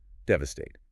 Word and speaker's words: devastate: Devastate. The stress is heavy on the very first syllable.